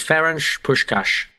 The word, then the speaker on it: Ferenc Puskás: I asked the lady it's fench push cash so if we sound like Steve McLaren then that's the fault of the Hungarian language Sean conry frch yes yes a fench push cash so this is very